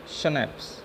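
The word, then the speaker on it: Schnapps: देखो ये इसको प्रोनाउंस कैसे करेंगे, शनैप्स, ठीक है।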